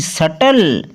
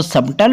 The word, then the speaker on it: subtle: SUBTLE, सटल। कुछ लोग इसको सबटल पढ़ते हैं, वो प्रोनाउंसिएशन गलत हो जाता है।